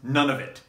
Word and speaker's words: Nunavut: So if you happen to work in Nova Scotia, in New Brunswick, in the one that I think is pronounced Nunavut, and you know what current wrestling ring rental rates are, please drop even an average number in the comments down below.